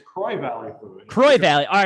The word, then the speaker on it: Croix Valley: right we are we are yeah it's it's croy valley croy valley all right see there we go already croix valley we're we're in hudson wisconsin right on the shores of the saint croix river kroy okay see i i added a little extra